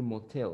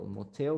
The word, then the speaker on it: motel: Lo mismo si quiere decir motel. Motel, motel, hotel, hotel. Tienen la misma pronunciación, ¿sí?